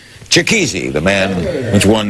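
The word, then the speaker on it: Chikezie: Joining us now, Christy Lee Cook, an American Idol finalist, as is Ramil Maloubi, and I'll pronounce it right, Chikizi, the man with one name.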